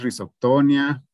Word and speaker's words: Rhizoctonia: niã o algo así normalmente se pronuncian sin tilde o sin acento y entonces rhizoctonia rita no se